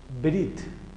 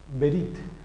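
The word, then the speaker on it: בְּרִית: El sonido de la E es muy corto, suena, pero es absorbido por la consonante B.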